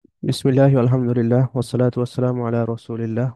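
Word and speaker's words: بسم الله: কাসরা আছে মানে বিসমি আর এখানে লামের উপরে তাসদিদ আছে অর্থাৎ সরাসরি গিয়ে ধরে বা ডাবল উচ্চারণ হয় এটাকে বলা হয় তাশদিদ তার মানে লাম এখানে ডাবল উচ্চারণ হবে অর্থাৎ বিসমিল্লাহ বিসমিল্লাহ এরপরে আবার হা এর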